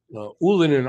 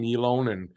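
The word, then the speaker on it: Ylönen: Ullinen there to pick it up. Until I'm watching the American feed, they called him Ylonen. We know now that's not how it's pronounced.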